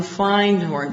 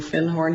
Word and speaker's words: Findhorn: And I said, "Do you have anything on Findhorn?" Because I'd found a book called The Magic of Findhorn. And he corrected my pronunciation. He said, "You mean Findhorn?"